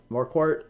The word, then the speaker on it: Marquardt: new members uh just now dar Doug Marquardt more Court uh hey Dave sent me the pronunciation so Doug Marquardt has become supporter in